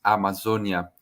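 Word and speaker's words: Amazônia: start my presentation saying how do we say Amazonia in Portuguese because I think it's important for us to to understand uh how is our native language so this is how we say the pronunciation is Amazonia and um I want just to contextualize and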